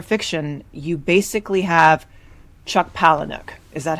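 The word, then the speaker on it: Palahniuk: super into genre fiction you basically have Chuck palanuk is that how you pronounce it I I need to Google how to pronounce his name it's pronounced poic is he polish I don't know okay that's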